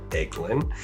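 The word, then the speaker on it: Eglin: That's how you pronounce that, Egglund.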